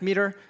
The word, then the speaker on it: METR: Uh time horizon methodology was created by an organization called meter pronounced meter.